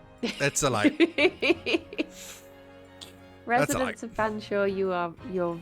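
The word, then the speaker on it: Featherstonehaugh: Oh, apparently it's pronounced Fanshawe? Fanshawe. Okay. What? That's not even. You're just skipping all of the letters.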